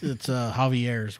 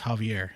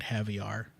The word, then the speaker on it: Javier: He would pronounce it Javier, like caviar.